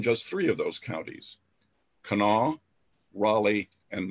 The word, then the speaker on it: Kanawha: as six counties in the southern coal fields kanawha that's how it's pronounced you folks from out of state kanan